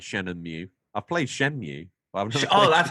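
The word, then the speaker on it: Shenmue: I've never played Shen and mu I've played Shen mu I've oh that's how you say it there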